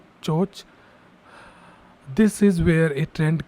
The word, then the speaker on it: CHoCH: This is called as change of character or CHoCH. You say it like CHoCH.